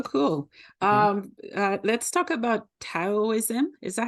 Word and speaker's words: Taoism: um let's talk about taoism is that how I say it well it can be da or to like pronounce it either way taoo um so if